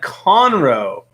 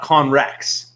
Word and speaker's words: Conroe: Conroe. Not Conrex. Conroe dropped another $2 super chat just to tell me how to pronounce the name accurately. So now I know Conroe.